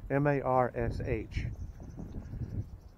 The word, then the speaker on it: Marsh: these engineered these his last name was march m-a-r-s-h and he had a engineering company called the